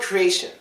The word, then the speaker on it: creation: Another exception is for words that end in I-O-N. Like T-I-O-N. For example, the word creation. Now, creation. Three syllables, it passes that. Last syllable is sh. But it doesn't count because when T-I-O-N is involved, the T makes a slightly different sound, so it does not count in this rule.